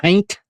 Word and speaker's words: haint: Haint? Is that what Haint. Yeah. Haint blue. Which is haunt. Yeah. Haunt. Is that how you say it? Haunt? Well, no, it's haint.